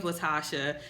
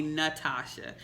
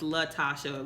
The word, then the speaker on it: Latasha: sometimes people call me natasha so i'll say oh it's latasha with an l and they're just like